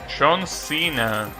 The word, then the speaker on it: Senna: Senna, that's how you pronounce it.